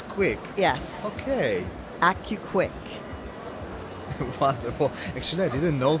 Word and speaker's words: AC-U-KWIK: you Qui okay so it's accurate and it's quick accurate and it's quick yes okay ACU quick wonderful actually I didn't